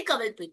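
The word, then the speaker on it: Kanwalpreet: मेरा नाम लिखते है कन्वलप्रीत। बट बोलते है कवलप्रीत।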